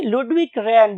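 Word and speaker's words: Ludwig Rehn: doctor, his name was Ludwig Rahn. Ludwig Rahn, बहुत से लोग इसे लुडविग रैन भी बोलते हैं, बट दोनों प्रोनाउंसिएशन चल रही है।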